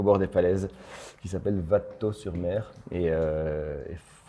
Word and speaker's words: Vattetot: on va aussi parler de votre dernier album vato tu le prononce bien alors ça se prononce VAT donc c'est très bien ça se prononce pas vato ouais VAT d'accord par du coup pourquoi vous